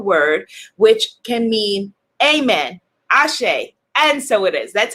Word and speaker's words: Asé: just joining me for the first time ashay spelled some people spell it a-s-h-e some people spell it a-s-e with